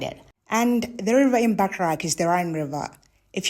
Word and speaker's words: Bacharach: This is Bacharach. At least I think that's how it's pronounced.